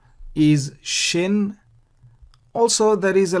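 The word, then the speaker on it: שׁ: It is not Sin, but Shin. Remember Shiboleth versus Siboleth. You pronounce Shiboleth if the dot is on the right. You pronounce Siboleth if the dot is on the left.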